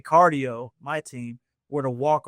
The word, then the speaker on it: Card.io: I know I said cardio and it spell different with the whole card. do you still pronounce it cardio oh yeah it's pronounced just like the word okay no perfect perfect